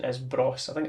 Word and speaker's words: Bros: So Bros, although Bros does rhyme with Goss, their surname, and the